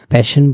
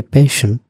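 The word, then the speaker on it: patient: পেশেন্ট বলি আমরা, শুদ্ধ উচ্চারণ হচ্ছে পেশেন্ট।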